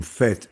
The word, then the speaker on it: fête: musique le mot faê on le prononce à la fois comme fête F e t e et comme F a I T e s fites vous-même d' h